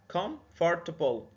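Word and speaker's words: comfortable: او مرتاح كفرتبل كفرتبل كومفورتبل دي في البعض بيقسمها على ثلاث مقاطع وفي البعض الاخر بيقسمها على اربع مقاطع احنا عايزين نخلونا في السحر ثلاث مقاطع كومفورتبل يعني في السن الصغير الاطفال بيقسموها على اربع مقاطع عشان هي كلمه طويله لكن في السن اللي زينا هي تتنطق كومفورتبل ثلاث مقاطع كفورتبل يبقى النطق كامل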